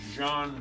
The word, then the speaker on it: Jean: That's pronounced John.